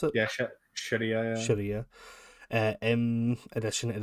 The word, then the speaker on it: Sharia: Is that how you pronounce it? Yeah, Sharia.